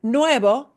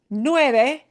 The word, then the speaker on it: nueve: So if you pronounce this nueve, smile at the end, nueve word as nuevo, and you're talking about like a number, you'll confuse the living bejesus out of them.